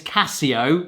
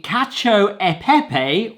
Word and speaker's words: cacio e pepe: Whatever happens, I always want to pronounce this Casio like the watches. E Pepe apparently kacho epepe or kacho e grape in its standard form.